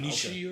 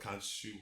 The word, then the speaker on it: Khonshu: Kunishi or whatever. Yes. Kunishi, I can't pronounce it. Khonshu. Khonshu. Yeah, there it is.